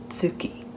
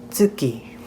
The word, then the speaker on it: tsuki: Now, be careful because that T at the beginning isn't silent. You can practice the sound tsu by saying the word it's and adding an oo sound at the end of it.